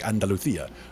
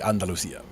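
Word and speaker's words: Andalucía: it is pronounced with they pronounce the C's as THS or like Andalucia but it could also just be Andalusia is a progression basically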